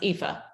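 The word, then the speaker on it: Aoife: so we have friends that named their daughter epha and it's AO IA and it's pronounced epha okay yeah see it's it's this wonderfully mysterious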